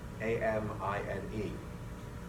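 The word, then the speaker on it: ammine: The neutral, meaning uncharged, but basic RNH2 is called an amine, A-M-I-N-E. This ligand, listen very carefully, is amine. Amine, amine. There's an ever so slightly different emphasis on that first syllable.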